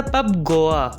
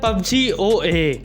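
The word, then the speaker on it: Pub Goa: तो बढ़ते हैं नेक्स्ट की ओर, तो बढ़ते हैं नंबर 8 की तरफ, जिसका हकदार है पब गोवा, जिसे काफी लोग प्रोनाउंस करते हैं PUBG OA।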